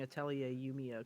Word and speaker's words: Atelier Yumiya: Proud of you for pronouncing Atelier Yumiya correctly.